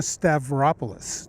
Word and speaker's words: Stavropoulos: Palo Alto weekly and we're here with Melina stavropoulos did I pronounce that right yeah you did oh good